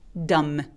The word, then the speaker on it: dumb: 요 두 번째 단어는 dumb라고 안 하고 dumb. M 소리만 내고 끝납니다.